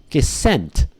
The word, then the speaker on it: scent: in school guys school ascent the C is silent you do not pronounce the C at all so it's the exact same pronunciation as hunter sent messages so how about this